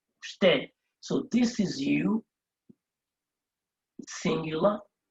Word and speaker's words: usted: And then we have usted. Now remember, you in Spanish is pronounced as u, usted.